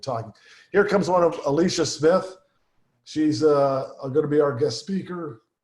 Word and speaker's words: Alisa: Alicia, Morning. good morning. Is this Alicia? So it's pronounced Alisa, but yes.